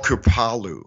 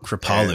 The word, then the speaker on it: Kripalu: You were at this center, I think it was called Kripalu, or how do you pronounce that, the yoga center? It's called Kripalu. Kripalu.